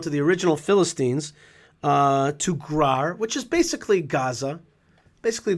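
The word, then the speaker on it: Gerar: In any case, in this section, Yitzchak goes down to the original Philistines, to Grar, which is basically Gaza, basically the Gaza area, and It's pronounced really, Gar.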